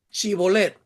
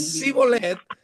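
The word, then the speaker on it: Shibboleth: una persona, ya que los efraimitas no podían pronunciar correctamente la S con la H, o sea, la SH.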